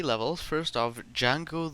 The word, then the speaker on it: Django: First off, Django the D is silent.